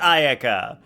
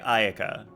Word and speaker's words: Ayaka: I thought it was Aayaka. It is Aayaka. Palon just pronounces her name wrong because they freaking just let the voice actors do American pronunciations instead of proper pronunciations.